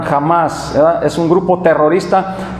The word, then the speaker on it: Hamas: Es un grupo llamado Hamas o Hamas, no sé cómo se quiera nombrar, ¿verdad? Va con H muda ahí, pero lo nombran Hamas, ¿verdad?